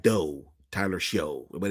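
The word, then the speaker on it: Shough: It spelled like it's rhyme with doe. Tyler show. Is that it? Weird. They spell they say it shuck, but it look s h o u gh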